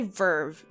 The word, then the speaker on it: VRV: Anyways, today's video is sponsored by Verve. It's spelled VRV?